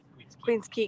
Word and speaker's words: Queens Quay: to see around together queen's key queen's key q-u-a-y queens quay queen's quay pronounced that would have been